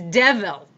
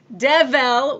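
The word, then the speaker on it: devel: The word for God is devil. Devil, which in those English-speaking countries is almost certainly pronounced more like devil.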